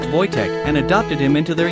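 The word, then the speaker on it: Wojtek: They named him Voych, pronounced Voytech, and adopted him into their unit.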